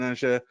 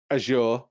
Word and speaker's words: Azure: in azure um and yes i know it's azure in the english pronunciation but because i i do speak a lot i i speak i speak to a lot of americans um because twitch is a us-based company um and it's always azure for them over there so unfortunately